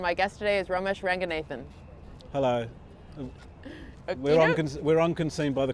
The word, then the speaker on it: Ranganathan: the Sri Lankan pronunciation is Ranganathan. Okay. My parents are very worried about us assimilating into UK culture, so they taught us how to pronounce it with an English accent.